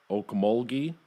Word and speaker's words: Okmulgee: Filmed on location in Okmulgee, is that how you say it?